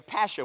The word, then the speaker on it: pasha: I'm going to be a pasha with the accent on the pash.